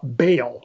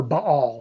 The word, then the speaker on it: Baal: through this time is uh baal or ba all sometimes you hear it pronounced those different ways but that's one of